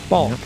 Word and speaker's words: balk: It's a B-A-L-K. Yeah. Bulk. Come on, do you?